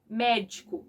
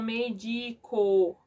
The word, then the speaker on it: médico: Médico. Eles vão ler, vão falar, eles vão medico. Aí eles vão, não, é médico.